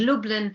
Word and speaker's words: Lublin: only wilitsek vyakovska remains and lublin rhymes with dublin these places homed me